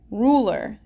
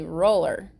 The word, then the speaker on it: ruler: Is that a long U or a short U? Long, right? Yeah. Ruler. If it was a short U, we'd say roller. But ruler is a long U sound.